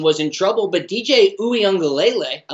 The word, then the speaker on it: Uiagalelei: It really seemed like Clemson was in trouble, but DJ Uiagalelei, I like saying that because I say it correctly, he did fine.